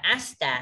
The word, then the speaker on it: 明日: À, cái từ này đọc là ashita ha. Nhưng mà là asta ha. Mình đừng có nhấn cái từ á làm gì.